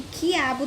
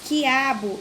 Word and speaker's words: quiabo: Ao pronunciar as palavras quiabo e hambúrguer, nas sílabas qui e gué, que letra não é pronunciada? A gente acabou de falar. Tem uma letrinha aí que ela não é pronunciada quando falamos hambúrguer. E quiabo. Não dá para ouvir o som de uma letrinha aí.